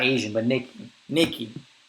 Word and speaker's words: Nikkei: Not Asian, but Nikki. Nikki. I think they pronounce it Nikkei, to be honest. I think it's Nikkei. And there we have it.